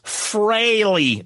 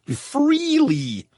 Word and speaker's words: Frehley: It's Freley, not Freely."